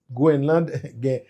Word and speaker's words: Groenland: point actualité et ben représentant Danemark avec Goenland Groenland parenthèse rapide par de Groenland téléspectateur qui fait connaî tout il dit pour ça prononcer granglais avec français c'est Greenland c'est vrai